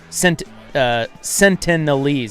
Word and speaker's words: Sentinelese: Outsiders meeting the Sentinelese, Sentinelese, yeah, that's how you pronounce it, could endanger the tribe's survival.